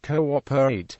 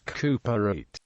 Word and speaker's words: cooperate: For example, in the spelling cooperate, the diaresis reminds the reader that the word has 4 syllables, cooperate, not 3, cooperate. In British English this usage